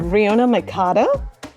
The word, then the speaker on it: Rionach McCarter: Hi everyone, I'm Jacqueline from Moksh, and today with me on Chats and Chai, I have Rionach McCarter. Is that right? Have I pronounced it correctly?